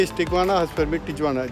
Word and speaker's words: Tijuana: Tijuana. As per Vijay is Tijuana, as per me Tijuana.